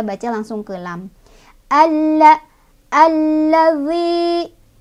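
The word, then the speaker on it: الَّذِي: Alla, alladzi, zi ketemu sama mad tabi'i, sebabnya karena ada ya sukun didahului oleh huruf berbaris kasrah di huruf dal. Cara bacanya panjang dua harokat. Alladzi, zi.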